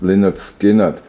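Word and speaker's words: Lynyrd Skynyrd: side another example is linard skinnard pronounced linard skinnard they have on side four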